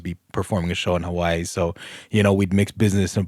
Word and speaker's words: Hawaii: No, I think it's Hawaii. There's an apostrophe, right? They pronounce the W's as V's.